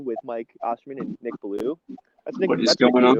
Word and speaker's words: Beaulieu: but the american way we say it is blue wait really yeah so